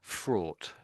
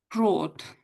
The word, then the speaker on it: fraught: Fraught. Do we give it a go? Fraught. Fraud. Um uh it's like pronunciation like a fraud.